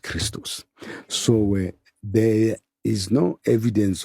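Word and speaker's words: Χριστός: XP in Greek XP is XP and is pronounced Christos so there is no evidence of a word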